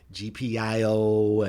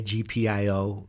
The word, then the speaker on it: GPIO: just, what that GPO, people pronounce it a lot of different ways. GPIO and GPO. There's so many different crazy ways to pronounce that, but I just say GPIO so that we're on the same page.